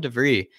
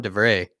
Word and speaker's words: Stefan de Vrij: and it's like with stefan devrie or stefan de vere sorry excuse me i keep pronouncing his name wrong goat stephen de vray like he doesn't need